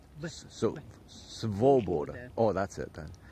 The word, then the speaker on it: свобода: Svoboda. So Svoboda. Oh, that's it then. The V goes into the O. Svoboda. Yes. There we go. Svoboda. Easy. Svoboda. Just like it's spelled. It's spelled SV.